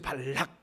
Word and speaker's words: 발락: 이게 정확히 발음해야 된다고 했잖아요. 제가 그죠, 발락. 그렇죠. 발락이죠. 락. 발람하면 선지자니까 발락이잖아요.